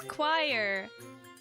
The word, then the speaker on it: choir: is it quite cool choir so it's choir ah thank you I really appreciate you guys